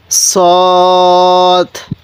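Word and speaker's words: صاد: scene আর এটা সৎ দোনো হরফের উচ্চারণ আমরা একই করে ফেলি আমরা এরকম একই করবো না দোনোটা হরফের উচ্চারণের মধ্যে অনেকটা ডিফারেন্স আছে তাহলে সৎ কিভাবে পড়বো সদ এরপরে এই হরফটির নাম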